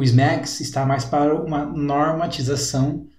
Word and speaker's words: SMACSS: Bom, o ISMA CSS, na verdade se pronuncia SMAX, ele é uma abreviação para Scalable Modular Architecture for CSS, que é uma arquitetura escalável e modular para CSS.